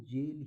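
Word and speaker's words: gaol: कि ऐसा लिखा है पर फिर भी इसका प्रनंसीएशन जेल ही है यह जेल का पुराना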